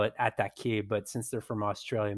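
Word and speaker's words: Attaquer: should I call it ataki or should I call it attacker because it's Australian the only thing is they spell it like the verb to attack at that key in French and since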